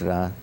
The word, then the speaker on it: Ra: and the Egyptian called Ra. Some say Re, but it's Ra. I mean, the same people who spell it Re, R-E, then go and write the name of the pharaoh Ramses.